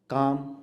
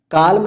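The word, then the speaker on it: calm: काम, काल्म नहीं कहते, आप काम कहते हैं।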